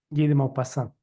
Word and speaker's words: Guy de Maupassant: Y esta es, que nunca lo puedo pronunciar, Guy de Maus. Guy de Maupassant.